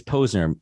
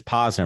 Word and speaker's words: Posner: and it's your name my last name is poser people mispronounce it as possible my nickname growing up